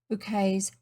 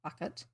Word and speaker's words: Bucket: Savage Bouquet's candlelit dinner for important people. You will probably recall the TV program Keeping Up Appearances, with the pretentious Mrs. Bouquet, pronounced bouquet, not bucket, her long-suffering husband and awful brother, Onslow.